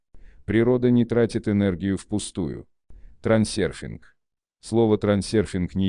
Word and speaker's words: трансерфинг: Произносится трансерфинг так же, как пишется. Если кому-то нравится выговаривать его на английский манер на здоровье, следует только иметь в виду, что звука «ё» в английском языке не существует.